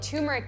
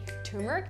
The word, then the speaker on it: turmeric: absolutely delicious tea called turmeric tea. Turmeric tea or turmeric tea? Do you know if I said turmeric or turmeric? Turmeric or turmeric. It doesn't matter if you pronounce the R or not.